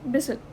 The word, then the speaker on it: bristle: I have pronounced bristle. Simply bristle means person. A word consists of two syllables that the t in the second is silent.